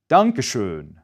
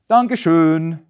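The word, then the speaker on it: Danke schön: One particularly useful phrase for learning oout is donashon. Try it. Donashun.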